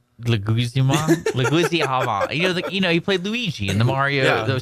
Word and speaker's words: Leguizamo: Also, on last week's episode, how did you pronounce John? How did you say his last name? Leguizamo.